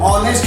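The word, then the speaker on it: honest: लेकिन यहाँ पे देखिएगा एच है, लेकिन एच साइलेंट रहता है, ओ से चालू होता है, ऑनेस्ट नहीं होता, ऑनेस्ट होता है, इसलिए यहाँ पे एन आ जाएगा।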